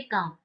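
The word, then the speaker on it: calm: stay काम ठीक है यहां पर एल साइलेंट रहता है तो इसे हम कहेंगे स्टे काम एल साइलेंट है ओके एल का एल को नहीं करना एल का उच्चारण हमें नहीं करना है एल का प्रोनंसिएशन नहीं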